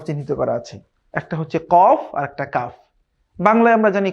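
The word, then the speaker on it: ك: একটা হচ্ছে কফ আরেকটা কাফ। বাংলায় আমরা জানি ক একটি। কিন্তু আরবিতে কিন্তু ক দুইভাবে উচ্চারণ হয়।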